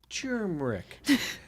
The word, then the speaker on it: turmeric: No, is it with the R? Producer Megan Max says it's with the R. Oh, Okay. Rob says it's time. subtle. It's turmeric. Turmeric.